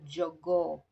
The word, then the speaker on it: jogoo: A rooster in Kiswahili is called jogoo. Jogoo, three syllables.